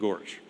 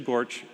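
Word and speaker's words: GOARCH: the standard environment variables which are officially pronounced goose and Gorge now we did the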